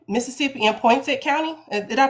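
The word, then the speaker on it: Poinsett: covers parts of um Craig Head, Mississippi, and Point Set County. Did I pronounce those names right? So it's changed. It's been kind of jerended. So it is uh Craig Head and um Point Set.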